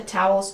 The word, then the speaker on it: towel: the floor towels pronunciation Tau Ow like cow and how towels holes the second syllable has a dark l or with a tongue near the back of the mouth all like call and wall towel towel one towel